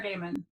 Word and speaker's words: Gaiman: One of the things Neil Gaiman, who you were talking about earlier, and I'm always afraid I'm mispronouncing his name. Is it Gaiman or Gaiman?